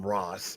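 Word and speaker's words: Ra's al Ghul: up calling him Ros I grew up calling him Ros I can go to Rosie I've been to the Middle East and I've when I when I I've heard it pronounced Ros over there I don't know Where did Race Al Ghoul come from? Where did that A sound come from?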